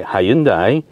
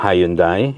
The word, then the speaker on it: Hyundai: And yes, I did say Hyundai, because we got told off by Hyundai that it's not Hyundai, it's Hyundai.